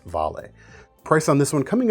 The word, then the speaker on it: Vale: This is the Vale, spelled Vale, pronounced Vale.